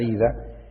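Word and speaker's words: οἶδα: del texto original la palabra saber ahí es oida que se pronuncia ida o se debe pronunciar ida y es un conocimiento completo total cuando uno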